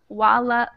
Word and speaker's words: voilà: voila voila okay and make sure try to force that V sound and I'm going to